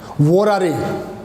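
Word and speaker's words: vorare: इसको बोलते हैं वोरारे, प्रोनाउंसिएशन इज वोरारे।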